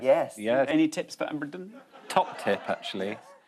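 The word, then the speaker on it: abrdn: But still pronounced Aberdeen.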